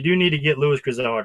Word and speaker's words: Grizzard: Apparently, I pronounced that name wrong. Teresa's mad at me. It's Grizzard.